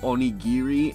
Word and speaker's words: onigiri: sorry by the way i did get the note about onigiri being pronounced onigiri and not only very sorry about that